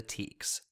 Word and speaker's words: TEKS: into that argument but you'll hear me pronounce it as the teks the teks are state